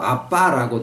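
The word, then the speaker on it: אבא: 적용되어 수 없는 상황이다 거지이 아바는 예수님이 사용하시던 언어인 아람어로 어 표현할 때 발음이 아라고 되어 있지 않고 아빠라고 있습니다 아빠 애들이 아빠라고 부르는 거랑 똑같은 발음으로 의미도 똑같아요 어린 자녀들이 자기의 아버지를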